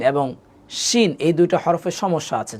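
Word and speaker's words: شين: আর শিন যখন বলবে তখন জিহ্বা কখনো দাঁতের সাথে লাগবে না, দাঁতের এই যে ভিতর থেকে যে দিকটা লাগবে না, একটু ভিতর থেকে উচ্চারণ হবে শিন, শিন। আমি আপনাকে আরেকটু সহজ করে বোঝাই দিই। শিনের উচ্চারণটা অনেকটা তালব্যস্য আছে না বাংলাতে, তালব্যস্য, তালব্যস্যর মতো করে হবে শিন।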